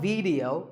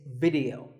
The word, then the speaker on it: video: The important thing is that both the I and the E are pronounced as short I sounds. It's not video, it's video.